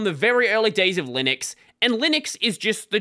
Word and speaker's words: Linux: of the video is how you say Linux pronounce Linux says Linux Linux is the only correct way to pronounce Linux